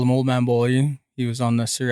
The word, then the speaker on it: Beaulieu: So everybody, I'd like to welcome Beaulieu.